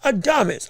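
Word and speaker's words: Adames: If we talking about No, not I'm sorry, not Adams. Adamus.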